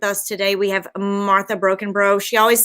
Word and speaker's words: Brockenbrough: today we have martha broken bro she always says i used to say brockenboro but then i read you said it's pronounced like broken toe so i was like